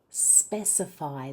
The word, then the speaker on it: specify: Now let's try specify. That has the stress on the first syllable. Ready? Specify. It's different stress to the word specific.